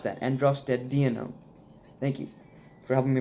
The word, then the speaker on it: androstenedione: Thank you, and heads up and shout out to the guy in a previous video who helped me pronounce that, androstenedione.